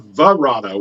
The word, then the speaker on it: Barada: pronouncing the second word, Barada. They're saying Varada with a V.